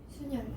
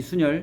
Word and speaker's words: 순열: 순열이라고 읽어. 순열 순열이라고 읽지. 순열. 네. 수 순 순열 순열 순열 이렇게 읽지.